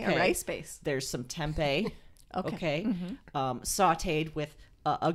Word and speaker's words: tempeh: tempeh okay good question like the city in arizona yes yes i put the whole city of arizona into my pan one point it is spelled like tempeh but with an h at the end oh tempeh is a